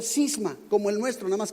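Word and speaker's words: σχίσμα: el original griego es una palabra que se pronuncia cisma como el nuestro una más que cisma con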